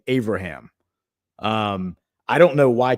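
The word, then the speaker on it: Avraham: It's actually Abraham. So, you replace the B with a V in in Hebrew and say Abraham.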